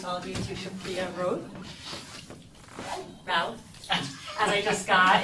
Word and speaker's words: Routh: of you to Supriya Routh. As I just got, it's pronounced like mouth, but with an R in the beginning.